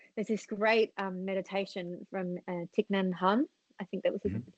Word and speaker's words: Thich Nhat Hanh: bodies, but actually there's this great meditation from Thich Nhat Hanh, I think that was Mhm. that's how you pronounce it.